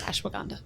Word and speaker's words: ashwagandha: help you pronounce words better foreign I will pronounce it for you it's ashwagandha there you go maybe an edumacation thing I